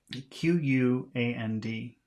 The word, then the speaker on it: quand: Notice that the combination of QU is pronounced K. Look and listen. Quelle? Que? Qui? 64. Say the following words before your instructor does. The first word is Q-U-A-N-D, which is quand, quand.